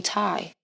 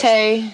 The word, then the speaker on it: Taii: Because or they call me Ty. My name's not Ty. That's why I asked, because I saw it and I was like, I don't want to mispronounce this shit. So no, it's Taii.